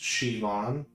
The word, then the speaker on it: Siobhan: Oh, it's pronounced Shivon.